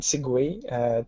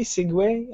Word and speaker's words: segue: Segue? How do you pronounce it? Segue. Like, why segue. Would you write it... Why would you write it like that if you pronounce segue?